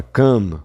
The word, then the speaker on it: come: Então, se eu olho pra palavra come, vai dar uma vontade de achar que ela tem duas sílabas. Porém, ela não tem duas sílabas. Ela tem uma só porque o E tá mudo.